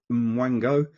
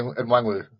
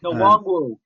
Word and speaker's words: Nwangwu: I can't remember how you pronounce his name. Is it Mwango? Number 35, I think. Kenny Nwangwu. Yeah, there you go. Nwangwu.